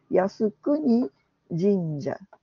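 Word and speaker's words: 靖国神社: El primer carácter se lee Yasu, el segundo Kuni, el tercero Jin y el último Ya. Fíjense también, en esta lectura de estos caracteres chinos, los dos primeros no tienen una sola sílaba, sino dos. En general, cuando es así, está correspondiendo a la lectura en idioma japonés, ¿sí? Por eso tiene dos sílabas.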